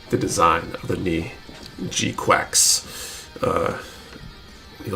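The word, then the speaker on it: GQuuuuuuX: And do you like the design of the G-Quacks?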